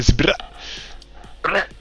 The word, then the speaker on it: Zbrrrah: Tu peux pas le prononcer normalement, c'est Sbra.